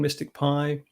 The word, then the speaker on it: MSTICPy: the package um so it's pronounced mystic pi even though it's spelt rather oddly as i said before